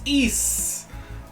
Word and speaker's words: Ys: I finally learned how to pronounce it. It is Ys. I looked it up on the wiki and saw the katakana.